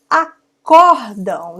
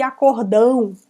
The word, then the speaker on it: acórdão: Acórdão. Já vi pessoas dizerem assim, leem isso aqui, acordão. Não, se tem o acento é acórdão, não é um acordo grande, um acordão, tá?